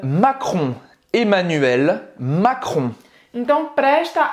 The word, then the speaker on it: Macron: aux audois toile président français comment est emmanuel macron emmanuel macron presta à pibrac a ajouté emmanuel